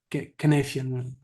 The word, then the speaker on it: Cynefin: So you know better than me, but the guy pronounces it Cynefin somehow, which is a relatively simple tool to understand the situation around you.